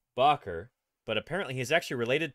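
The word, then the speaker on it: Bakker: way I did uh Bob Barker pronounces his name bocker but apparently he's actually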